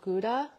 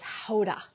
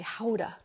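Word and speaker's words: Gouda: thyme but mostly it's their different ages of guda oh yeah apple tart too uh but what they say there is it's not pronounced guda or GAA it's Hoda so I learned that all these years I've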